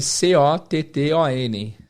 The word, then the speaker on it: cotton: Esse T-T-O-N fica aqui dentro da garganta.